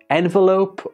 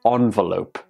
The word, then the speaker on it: envelope: like to say data this word can be envelope or envelope again both are acceptable this one can be